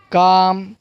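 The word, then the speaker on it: calm: Talk, काफ, काम, चॉक, walk, Fock, half, Simon. क्या है, सैमन, सैमन और पाम। तो यहाँ पर जो एल की आवाज़ जो है वो साइलेंट है।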